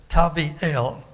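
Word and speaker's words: Tabeel: but the way it normally would be um pronounced the name of this imposter is tavi el tabi el meaning god is good but there was it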